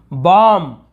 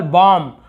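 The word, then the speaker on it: bomb: अब यहाँ पे हम केवल वर्ड देखते हैं, तो यहाँ हम क्या पढ़ेंगे, बॉम्ब, ब नहीं पढ़ेंगे, केवल बॉम्ब। बॉम्ब यानी होता है बम।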